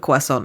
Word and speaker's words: croissant: eaten it and gone, you know how we say it in America? Please don't say it. Croissant. Oh. Croissant. No. Can I get It's not how you say it. Can I get a chocolate croissant? Non, c'est un croissant.